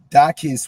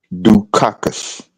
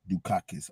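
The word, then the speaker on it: Dukakis: Dakis was was was dogged by a by a Republican televised advertiser. Oh, my bad. Um, it's pronounced Dukakus. Dak. Okay. Dukakus.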